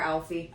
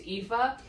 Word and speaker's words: Aoife: I'm still gonna call her, it's Aoife, I think, but I'm calling her Alfie. I call her Alfie too in my brain, but I think it's pronounced Aoife.